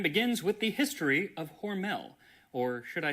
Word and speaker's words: Hormel: I believe it charge of the company and he said that it was Hormal as in rhymes with normal. But since the company today says Hormel, that's what I'm going to be saying for the rest of the video.